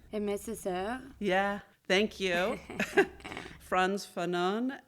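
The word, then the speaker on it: Aimé Césaire: And again, I'm not sure if I'm going to pronounce this right, but Amié Césaire? Amié Césaire.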